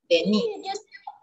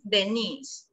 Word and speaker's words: Denise: La acentuación está en la D, pero para niña la mayor acentuación está en la I, Denise. Yo tengo mi prima que se escribe así, Denise. Prima. Sí. Se escribe así, pero la pronunciación es Denise, pero para niño, Dennis.